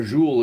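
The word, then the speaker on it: zhoul: So, if you're wondering what a jeu is, a jeu is uh it's spelled z h o u l.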